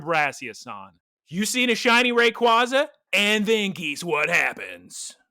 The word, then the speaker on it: Rayquaza: Well, actually, the correct answer to your question, Geese Peep, is actually Rayquaza, but you're not going to catch me.